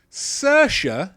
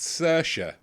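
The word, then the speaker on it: Saoirse: statement number five here sasha yeah that's pronounced sercia sercia ronan is the seventh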